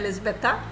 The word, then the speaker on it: Elizabeta: um Elizabeth how do you say your name elizabetha you could see that the voice modulations there